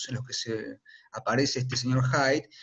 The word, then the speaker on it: Hyde: no hair height significa la pronunciación suena a esconderse no a los loros hyde de hecho hay un